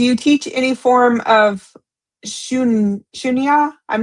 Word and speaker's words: Shunya: Do you teach any form of shunya? I'm not sure if I'm saying that right. I'm probably not. Sushunya? Shunya. Shun. It's spelled Shoonya. I'm sure Shunya.